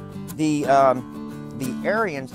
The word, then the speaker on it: Ariens: showing the snowblower and it's called the aryan aryans uh a-r-i-e-n-s that's how it's pronounced uh and it is the s-18 or